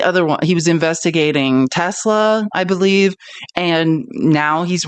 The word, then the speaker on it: Tesla: That's my pronunciation was wrong. It's Tesla. And I think, you know why I think Trump does that? because he hears Elmo saying Tesla, which is that's a South African accent, and then he's trying